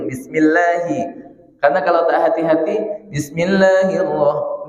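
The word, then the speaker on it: بسم الله: Bismillahi, hi tak boleh masuk ke hidung. Bismillahi.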